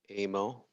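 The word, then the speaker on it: אמו: Amo. Thank you. Like in the word it or the word bit. This is what you're making, the sound. So the aleph is silent. You don't make that.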